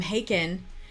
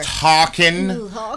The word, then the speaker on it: Haken: And the singers are Ross Jennings from Haken and Michael Mills I from believe it's pronounced Hawken, not Haken, Hawken.